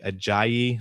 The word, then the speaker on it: Ajayi: I like Jay Ajayi, I believe is how you say it.